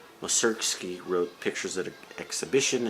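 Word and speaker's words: Mussorgsky: with the berlin philharmonic uh welcerski okay i i said it wrong moserkski wrote pictures at an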